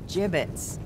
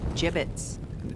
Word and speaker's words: gibbets: Hey look Avery had some gibbets left over gibbets what it's pronounced jibbets are you sure yeah well no one likes